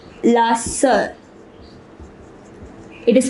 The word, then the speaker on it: sœur: Notice the pronunciation, it is sœur.